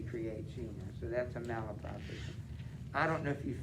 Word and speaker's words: malapropism: It's a malapropism. M-A-L-A-P-R-O-P. So mala, and then the word prop, ism.